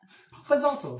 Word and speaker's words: Papazalto: Papazalto. Papazalto.